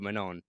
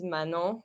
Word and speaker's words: Manon: Lebargy as opposed to Manon. Yeah, so because my name is Manon, but Americans pronounce it Manon.